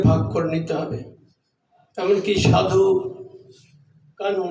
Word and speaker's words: সিধু কানহু: এমনকি সাধু কানহু, না উচ্চারণটা সাধু কানহু, তাদের কথা, সিধু কানহু সাধু একই ব্যাপার।